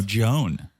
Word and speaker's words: Joan: That's you say John Rivers. Oh, no, Joan. Oh, Joan. Well, spelled like that, but pronounced like Joan.